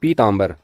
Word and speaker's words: पीतांबर: कि अशुद्ध प्रयोग है इसका जो सही उच्चारण होगा वो होगा पीतांबर पीतांबर प में दीर्घ ई की मात्रा जुड़ी न की ह्रस्व